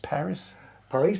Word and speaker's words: Paris: You had a band called Paris Paris. Paris, Paris, as Yeah. we pronounce it in, Yeah.